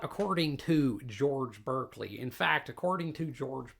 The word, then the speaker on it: Berkeley: I'll be damned before I pronounce e r like a r.